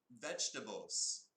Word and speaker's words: vegetables: Next, vegetables. You know vegetables. Can you say that word? Veg-ta-ble-z. 4 syllables. Vegetables.